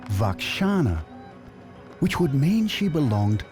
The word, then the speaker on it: Roxana: hint in her name the Greeks pronounced it Roxana but it may originally have been vakana which would mean she